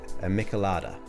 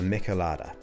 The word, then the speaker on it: michelada: I'm gonna probably pronounce it wrong, but it's a michelada.